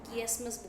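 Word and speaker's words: chiasmus: करते हैं next is किसमस सी एच आई ए एस चस मस बोल दो किसमस बोल दो टू फ्रेज यहां पे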